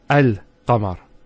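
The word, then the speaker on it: القمر: the Al of definiteness, that the Hamza al-Wasl is always pronounced with a Fatha. Not a Kasra and not a Dhamma. So it's always A, Al-Bayt, Al-Qamar, and so on. It's never Ul, it's never Il.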